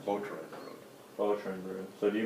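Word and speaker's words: Boterenbrood: How do you pronounce it? Boatron Road.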